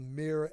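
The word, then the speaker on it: myrrh: thyme essential oil topically another one is called mirr extract mirr is spelled m y r RH it's used for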